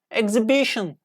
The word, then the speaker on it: exhibition: our our honor air exhibition exhibition not H we don't pronounce H here please don't do that